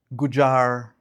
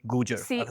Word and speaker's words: Gujar: People says Gujar Gur and you were like perfect. Rupinda Gujar.